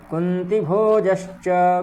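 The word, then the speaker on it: कुन्तिभोजश्च: पुरोजित कुंतीभोजश्च, कुंतीभोज, ठीक। यहाँ पर भी ई ऐसी नहीं है, छोटी ई है इसलिए छोटी का प्रयोग करेंगे।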